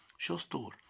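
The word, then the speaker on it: shoe store: لاحظ ان الاس اتش اتنطقت شين، شو ستور، متجر احذيه او محل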